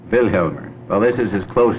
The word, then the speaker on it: Vilhjalmur: to pronounce your name velmer the accent on the first c velmer v Helmer velmer velmer well this is as